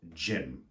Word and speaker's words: Jim: So the names that I can think of are, for example, the name Jim, J-I-M, which is pronounced exactly the same as gym where you work out.